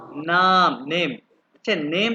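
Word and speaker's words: Name: अभी हम देखते हैं, ये देखते हैं, सबसे पहले हम देखते हैं ये नाम, नेम। अच्छा, नेम तो हो गया इंग्लिश में, जर्मन में इसको प्रोनाउंस करते हैं नामे।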